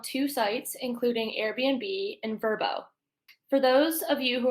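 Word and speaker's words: Vrbo: will focus on two sites including Airbnb and verbo for those of you who are unfamiliar with verbo it is spelled v rbo and stands for vacation rental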